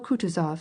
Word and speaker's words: Kutuzov: asked anna pavlovna general kutuzov has been kind enough to desire me as his aide to comp he spoke in french and accented the last syllable of kutazov's name like a frenchman elise votrefem she will